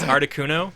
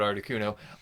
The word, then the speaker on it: Articuno: um let's see number two i think is articuno because i don't know it was that was my favorite bird because yeah it's pronounced arctic 1-0 1-0 yeah it uh it